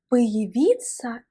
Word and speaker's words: появиться: Et j'aimerais attirer ton attention sur la prononciation du mot появиться. Появиться. En fait, la voyelle ya se prononce ici comme i parce que la voyelle ya n'est pas accentuée dans ce mot.